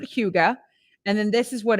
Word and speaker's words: hygge: denmark than in norway you pronounce it huga and then this is